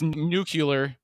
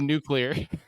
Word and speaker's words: nuclear: And then of course it's nuclear instead of nuclear. Now, I will resist that because I'm a well-read individual. I will try to pronounce things correctly, but that was adding the extra syllable in there.